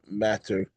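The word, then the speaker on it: madder: That's matter m a dde d e r not matter with two t's. Um, to those of the English um, perfectionists, it's actually pronounced matter.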